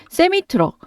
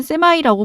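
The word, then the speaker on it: Semi: 참고로 미국에서는이 컨테이너를 싣고 다니는 대형 트랙을 대형 트럭 트럭을 세미트럭 혹은 줄여서 세미라고 부릅니다. 발음은 뭐 세미 또는 세마이라고 부르는데요.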